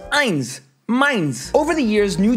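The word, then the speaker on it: eins: spelled like this as the number one in German is pronounced Ein mines over the years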